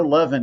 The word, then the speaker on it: Levin: I know Levin is how you say Levin. Yuval, I think, is how you say his first name. Yuval is correct, yes.